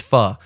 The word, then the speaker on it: pho: It's kind of like when you go out to get Vietnamese food and you know it's pronounced pho, but you just don't want to sound like a douche.